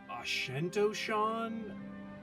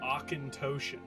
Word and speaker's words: Auchentoshan: episode five featuring ochentosian try to pronounce that occantoshan apparently now i originally was like oh that's ashentoshan oushantoshan i i don't even know how they make up these names but apparently it's ochentoshan how cool is that